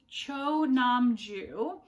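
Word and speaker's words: Cho Nam-joo: And I have pronounced this author's name wrong so many times because I keep wanting to make the first syllable and the last syllable the same, even though I know they're not. So it's Cho Namju.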